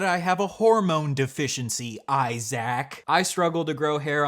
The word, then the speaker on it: Isaac: and get the Annunciation of my name correct Isaac I was calling you ISAC as this little